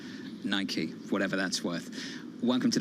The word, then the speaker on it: Nike: shut up Tom Pharaoh's correct it's Nike I'm not saying I'm right I'm just saying that that's how a lot of people in Europe say it right which is wrong which is wrong being here in America it is Nike whatever that's worth welcome